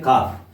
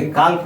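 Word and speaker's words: calf: यहां पे एल जो है साइलेंट रहता है। एल का उच्चारण हम नहीं करते हैं। काफ पढ़ा जाता है। को आकर फो काफ। इसके काल्फ नहीं बोलेंगे। काल्फ नहीं बोलेंगे। क्या बोलेंगे हम? काफ।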